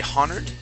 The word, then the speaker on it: honored: Now, this word here, the H is actually silent. So we would not say honored.